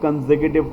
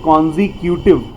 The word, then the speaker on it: consecutive: कई बार हम इसे प्रोनाउंस करते हैं कॉन्जिक्यूटिव, तो कॉन्जिक्यूटिव नहीं होना चाहिए, कंसेक्यूटिव।